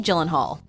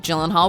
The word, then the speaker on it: Gyllenhaal: that a name like Gyllenhaal would confuse the average person just imagine a girl named Jill and a friend named Hal if you insist on